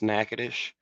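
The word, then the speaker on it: Natchitoches: how many slaves but uh it's right under nacadish Louisiana which is spelled nachoes but it's pronounced nackadish and uh it's called it's been renamed to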